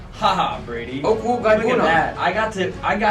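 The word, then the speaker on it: Okwuegbunam: His last name is pronounced Okwuibunam. Haha, Brady. Okwuibunam. Look at that. I got to it before Brady did for once. You scooped me. Okwuibunam.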